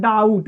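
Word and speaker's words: doubt: देखिए जैसे होता है डाउट दी ओ यू बी टी देखिए यहां बी साइलेंट है क्या है साइलेंट है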